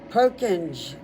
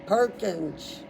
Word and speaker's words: Purkinje: Purkinje is the only way I can think.